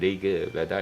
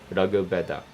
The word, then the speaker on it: Rig Veda: It's not Rig Veda, it's Rag, Rag, Rag. The tongue has to touch the roof when you say Rag, Rag Veda, not Rig Veda.